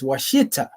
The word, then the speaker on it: Ouachita: a Wichita River and their name has been pronounced as Washita by English speakers and this is what